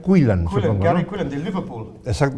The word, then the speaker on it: Quillan: Es la derrota de una de las grandes promesas del ajedrez ruso, Dubov, contra un británico, se pronuncia Quillan.